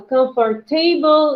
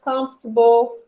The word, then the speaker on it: comfortable: put the stress correct sometimes you can put the stress not correctly for example you say a comfort table instead of comfortable okay so if sometimes